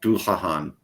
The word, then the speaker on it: Dullahan: It'd be something like Dullahan. It says a throaty middle syllable, whatever.